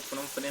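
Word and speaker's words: Phnom Penh: तो कंबोडिया की राजधानी होती है फनोम पेन, ठीक है, इसे आप लोग फनोम पेन प्रोनाउंसिएट करना।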